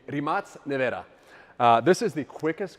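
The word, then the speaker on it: Rimac Nevera: This is my Remac Nea or as they call it in Croatia because I get a lot of Croatian hate when I pronounce it wrong, the Rematz Nea.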